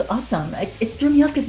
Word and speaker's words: octonwoomy: Octonwoomy. Okay, I see. It's not Octo, it's Octon.